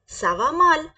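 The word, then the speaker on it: ça va mal: ना आई एम not well तुम कैसे बोलेंगे सवा माल सवा माल सवा माल या फिर बोले या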